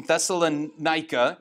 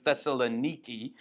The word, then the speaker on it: Thessaloniki: This is Paul obviously writing to the church in Thessalonica. If you go there, they will tell you you're pronouncing it wrong. It's Thessaloniki. Whatever.